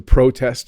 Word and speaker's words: protest: So to protest, let me pronounce it the right way. To protest means to be with other people.